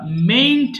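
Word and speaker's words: mayn't: এবার দেখো নেগেটিভটা পড়ছি আমরা, মেইন্ট বলবো নেগেটিভ। দেখো আই মে ডু আমি করতেও পারি, আর আই মেন্ট ডু মানে আমি নাও করতে পারি। এম এ ওয়াই এন টি উচ্চারণ করব কি? মেইন্ট, মেইন্ট।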